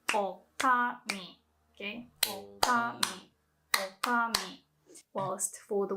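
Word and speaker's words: 女将: So for female innkeeper, you can say okami.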